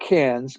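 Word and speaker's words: Cairns: And um I flew up to to um uh it's called Cans, kind of like the Can's film festival, but it's it's spelled KS, but it's it's Cans uh on the north side of the country.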